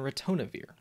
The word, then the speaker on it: ritonavir: which is really hard to say but it's pronounced nirmaltravir and retonavir this drug comes in packaged kits of three